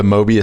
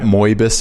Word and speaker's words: Mobius: how you pronounce that like the mobius strip yeah it's not moibus or anything like that so go to